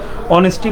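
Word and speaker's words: honesty: উচ্চারণ কিন্তু হবে না এইচ এর উচ্চারণ আপনাকে এখানে কিন্তু সাইলেন্ট করে পড়ে যেতে হবে অর্থাৎ অনেস্টি পড়তে হবে অনেস্টি পড়া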